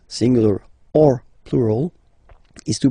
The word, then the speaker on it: eau: this a, u, combination of vowels, like for instance une, o. So remember, when you get these vowels like that, then you get only the sound o.